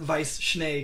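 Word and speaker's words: Weiss Schnee: got oh and vice well I I pronounce it Vice schne because that's German and it just means White Snow White Snow as opposed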